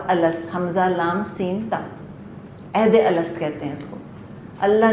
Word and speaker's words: عہد الست: اس کو کہتے ہیں عہد الست، نام ہی اس کا یہ ہے۔ عہد اسپیلنگ آتی ہے آپ کو، عین ہا دال، اور الست حمزہ لام سین تا، عہد الست کہتے ہیں اس کو۔ اللہ نے سب انسانوں